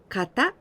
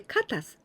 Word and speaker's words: 型: Kata. This is also for example, in karate, there are many kata. Here people say katas, but no, this is kata.